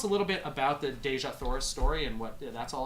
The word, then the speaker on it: Dejah Thoris: little bit about the dejah thoris story and what that's all about yeah this is basically the story of how Jesus Teesha that's how Edgar Rice Burroughs pronounced and good to know